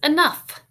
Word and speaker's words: enough: Our next word is enough. Say it again. Enough. Now spell it.